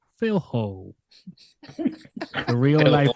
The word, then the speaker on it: Filho: we are talking about Pedro Rodriguez filo how it's pronounced in Spanish if it's in English is Pedro Rodriguez philho the real life right